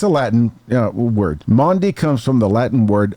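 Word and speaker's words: Maundy: spelled differently it is m a u n d y there's no a in there like Grundy but not but not that's exactly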